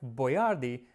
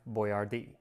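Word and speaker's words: Boyardee: his name right so he started spelling it out phonetically boy r d and unfortunately they didn't specify where the accent was so Chef boardi quickly became chef Boyard now it wasn't just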